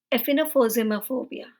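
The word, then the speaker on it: aphenphosmphobia: क्लोजन का डर इसे कहा जाता है एफन एफन फोमा फोबिया प्रोनाउंस करने में थोड़ा सा र डिफिकल्ट है इसलिए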